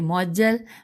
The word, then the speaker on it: معجل: ہو سکتی ہیں: مہر معجل، مہجے کروں گی، میم عین جیم لام اور عین پہ تشدید ہے تو مہر معجل۔ پھر دوسرا ساتھ ہی